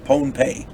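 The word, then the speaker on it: Pohnpei: of the island of ponpei i'm gonna say it's excuse me i'm gonna say it's pronounced ponpe because otherwise it sounds like pompeii over there in in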